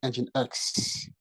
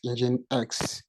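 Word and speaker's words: nginx: load balancing we using engine X pronounced as engine X engine X pronounced as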